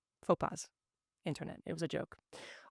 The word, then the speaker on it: faux pas: So I acknowledge it, I apologize for it, and I will try to avoid future Fox passes. Faux pas.